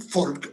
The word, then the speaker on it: Volk: La única diferencia es que en alemán se escribe con B, V, pero los alemanes la pronuncian folk, F, y nosotros, y bueno, y el resto de los países hoy en día, folclore.